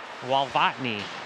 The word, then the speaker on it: Walvotny: And Otis, how do you say Otis's last name? Walvotny? Well, you got it, the second one. Walvotny.